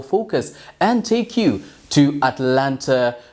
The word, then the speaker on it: Atlanta: and take you to Atlanta Georgia or as the locals say it Atlanta well Alex chamada has